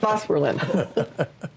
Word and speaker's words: Phosphorylin: As an accent on the first syllable. Yeah. Phosphorylin.